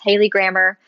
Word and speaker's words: Haylie Grammer: So it's like Haley, and then grammar, but with the ER at the end, not a AR.